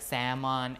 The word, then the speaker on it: salmon: of ammon like that like salmon ammon talk like that the l is dropped right but some people think that because there is an l in the writing form they pronounce the l.